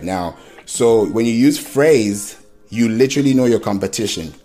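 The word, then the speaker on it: Frase: it it's called phrase not the word phrase It's called phrase I'll spell it out for you f r a s e so when you go to phrase phrase.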